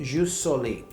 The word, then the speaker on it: jus soli: don't give me a hard time on my pronunciation but ju soli okay which means right of soil this is